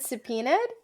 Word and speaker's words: subpoenaed: Taylor's been subpoenaed.